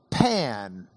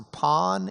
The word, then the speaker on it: pan: There's a Greek word pan pan that means all. Pos or pawn either one. All pawn pan p a n pawn.